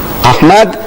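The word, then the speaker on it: Ahmed: She says, spell it. So I started spelling it. A-H-M-E-D, Ahmad, D-E-E-D-A-T, Deidat.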